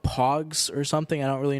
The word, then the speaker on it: Pogs: They were called like Pogs or something. I don't really know what that means. Not Porgs from Star Wars The Last Jedi. Pogs, P-O-G-S, I believe, is what they were called.